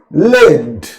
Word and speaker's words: lead: The pronunciation is led.